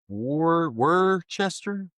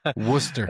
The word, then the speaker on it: Worcester: Warchester. Wartchester. The heck? Worcester.